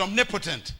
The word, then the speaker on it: omnipotent: We pronounce it omnipotent.